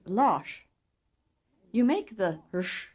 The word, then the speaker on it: Lars: The rush sound is pronounced when the letter S follows an R, as in the words orsak, kors, and Lars.